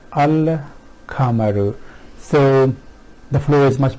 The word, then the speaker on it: القمر: from each other and it becomes easy to pronounce them. So al-kamaru, al-kamaru.